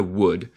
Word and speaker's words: would: Sí, la pronunciación de la palabra would, que no puedo encontrar, pero would, que es el condicional en inglés, se pronuncia would, como si. Would. Would. L es muda.